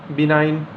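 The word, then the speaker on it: benign: इसके बाद देखिए दोस्तों जी आपका साइलेंट कब कब है, बिनाइन यानी दयालु, डिज़ाइन, बिनाइन यहाँ पे देखिए जी आया है, जी आपका क्या है, साइलेंट है।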